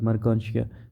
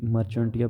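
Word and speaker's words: Marchantia: जैसे एग्जांपल में उसने मर्कांशिया का एग्जांपल दिया है, ठीक है, ये प्रोनाउंसिएशन है कि मर्कांशिया, वैसे जो है ना ये मर्चेंटिया भी पढ़ते हैं लेकिन ये मर्कांशिया है, इसलिए जहाँ पे प्रोनाउंसिएशन दी गई है।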